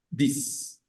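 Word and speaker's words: dix: es dis dis bien esa x suena como ese y se pronuncia y decimos dis Entonces tenemos los 10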